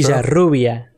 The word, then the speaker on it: Villarrubia: Is that true? Villarrubia. There's no J in there. There's no accent over those letters, man.